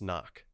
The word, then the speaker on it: NOC: NOC, pronounced knock.